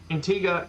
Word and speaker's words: Antigua: you um PDM gotcha they don't pronounce it Antigua and Roberta so there we go